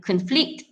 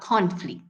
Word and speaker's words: conflict: Sepatutnya conflict, not conflict.